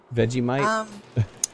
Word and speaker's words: Vegemite: vid you might like we pronounce it veggie mine's Vegemite yeah it's just a it's